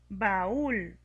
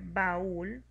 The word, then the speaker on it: baúl: Baúl. Para poder pronunciar baúl tenemos que darle más fuerza a la vocal cerrada y esto lo hacemos poniéndole la tilde.